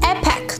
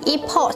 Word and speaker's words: Epic: 第八双是 Epic，很多人容易把它读成 Epoch，所以以后不要再读错咯。